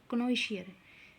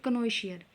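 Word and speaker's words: connoisseur: की ठीक है तो देखिए आगे 103 नंबर क्नो शियर कनो शियर क्या होता है कला का पारखी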